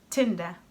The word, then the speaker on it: Tinder: Another word is Tinder Tchinder?? What is Tchinder? That's how the English word is. But Tchinder has nothing to do with the Tinder Whenever I teach Brazilians English, they have a hard time pronouncing the t and d When there is the letter t they pronounce it as a tch sound and d as j